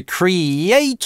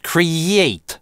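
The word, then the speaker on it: create: Она с одной стороны решает для русскоязычных некоторые проблемы, позволяет, например, осознать, что в слове cree-eight у нас долгий /i/.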